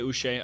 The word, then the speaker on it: Uche: Joshua Uche. Uche, I don't know yet. Until I saw somebody say that it's pronounced Uche.